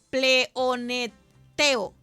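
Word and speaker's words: πλεονεκτέω: Las antiguas palabras griegas de pleoneteo, así es como se pronuncia, es utilizada en cuatro otros pasajes para reflejar esta advertencia.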